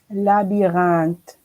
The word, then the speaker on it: labyrinthe: So go now, pronounce the whole word. Labyrinthe.